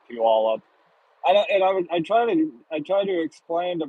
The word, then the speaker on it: Puyallup: idea how to pronounce Puyallup. I try to explain to my friends like, okay, let's break it down into three words. Pew, like smelly, like pew, or like a church pew. all up.